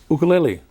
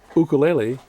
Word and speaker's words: ukulele: you kaleli no it's think of that first u as a two as two zero a two o's so here's ernie with